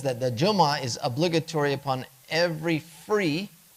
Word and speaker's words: Jumu'ah: There's fatha, Jumu'ah, Jumu'ah. And this is on the meme, by the way. And there's a dhamma, Jumu'ah, Jumu'ah. The dhamma is the default, but all 3 of them are acceptable.